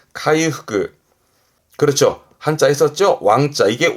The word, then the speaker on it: 回復: 발음은 카이후그 카이후그 그렇죠 한자 했었죠 왕자 이게 왕복이네요.